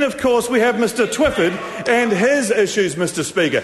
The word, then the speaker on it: Twyford: Mr. Twyford's name is pronounced Mr. Twyford, and the Minister knows that.